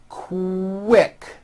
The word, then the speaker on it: quick: for example the word quick is pronounced with a k and a strong w sound co wick like that